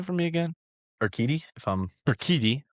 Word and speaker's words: Urquidy: Jose Urquidy, pronounce his name for me again? Urquidy, Urquidy, right.